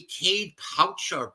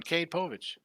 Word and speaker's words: Cade Povich: The Orioles going to be sending a lefty, Cade Pouch, I don't even know how to pronounce his name, 0-1, 3.94. And it's Maury Povich's son, Cade Povich.